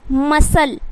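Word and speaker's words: muscle: एल E decile उसी तरीके से क्या है मसल मसल उसी तरीके से सीन सीन में क्या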